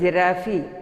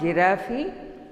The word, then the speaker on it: giraffe: Here, G-I-R-A-F-F-E. How will you pronounce? Most of the students pronounce giraffe, but it is not giraffe, it is giraffe. They have to pronounce it as giraffe, not giraffe.